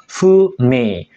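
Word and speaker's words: 不明: yang hitam ini adalah kanji Fu yang artinya tidak Fu me Fu itu tidak me itu terang sama dengan tidak terang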